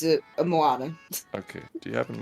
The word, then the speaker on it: Moana: N A oh yeah I kept saying it wrong cuz I was like Mona everybody like what no